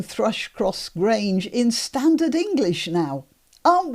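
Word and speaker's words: Thrush Cross Grange: That's not how it would have been pronounced in Yorkshire. In Yorkshire, remember, all the vowels are down. And Thrush-Cross Grange, pronounced in a local way, would be Thrush-Cross Grange, which is really easy to say.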